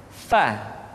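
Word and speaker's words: ف: Berikutnya pengucapan huruf Fa. Diucapkan dengan menyentuhkan ujung dua gigi seri kita bagian atas dengan bibir bawah bagian dalam. Fa. Seperti kita mengucapkan huruf F di dalam huruf Latin.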